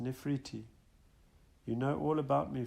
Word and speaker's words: Nefertiti: about them to guide I am Nefertiti pronounced nephriti you know all about